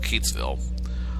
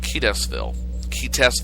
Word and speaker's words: Keatsville: Well, it occurred about within, I think, 5 miles of Keatsville. Only the reporter last night called it Keatesville or something like that. She put in extra syllables and mispronounced it.